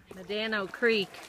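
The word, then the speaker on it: Medano Creek: sand dune in the continent of North America manano Creek I believe is a losing stream that means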